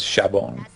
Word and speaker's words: Shabon: But the way that the Japanese pronounce that word is Shabon.